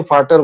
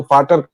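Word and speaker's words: Vater: जोखिम नहीं लिया क्योंकि आप जर्मन को वी को एफ बोला जाता है। जैसे हम लोग फ का उच्चारण करते हैं तो वो जर्मन में जर्मन में वी फ होता है तो फाटर है।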